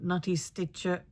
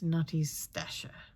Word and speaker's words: Nutty Stasher: Instead of Nutty Stitcher, it's Nutty Stasher. Did I get it right this time? Okay, it's right.